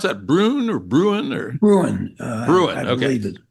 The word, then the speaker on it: Bruen: Is that, you pronounce that Bruen or Bruen or? Bruen.